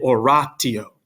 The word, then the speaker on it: oratio: t it's tempos and oratio right in english you might say an oration but in latin it's o it's always a hard t sound next we have the